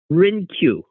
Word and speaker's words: Hrynkiw: Okay, and so the H is silent. Hrynkiw.